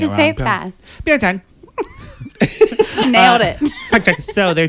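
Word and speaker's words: Pyeongchang: Pychang.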